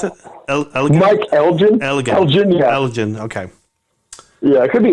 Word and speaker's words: Elgin: And Michael England comes out and starts beating him up.